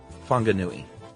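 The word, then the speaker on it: Whanganui: Uh or the town of uh Wanganui uh is pronounced Funganui.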